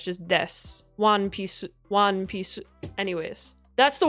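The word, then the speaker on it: ワンピース: Not cool but the su the u in s. You don't really pronounce the uh as much. You really kind of keep it as one piece.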